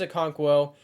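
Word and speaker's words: Okonkwo: always say it wrong I think it's a conquo uh he had a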